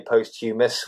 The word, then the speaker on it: posthumous: looks like 'humous', but we don't say 'post-humous', we say 'posthumous'. Yeah. It's got a funny pronunciation. The emphasis is on the first syllable and it's – as you say – it's not 'post', it's 'post-'. It's 'posthumous' and the 'h' is silent.